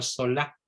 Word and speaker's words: Zola: autor se llama emilio zola en mil sola con z sola se escribe sola se pronuncia sola como casi todas las palabras francesas que son agudas emile zola y la consecuencia para